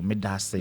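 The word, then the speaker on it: Medaase: Medase. Medase. Oh, so you say thank you after that? Yeah, Medase. Okay, so Medase. Akwaba means welcome. So okay, so Medase. Medase. Oh. Medase.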